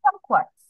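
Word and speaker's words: kumquats: তাহলে এটাকে আমরা তাহলে উচ্চারণ করি কামকোয়াটস। হ্যাঁ, संक्वाट, संक्वाट माने কোয়াট। বাংলায় হচ্ছে কুম, ইংলিশে হচ্ছে কাম।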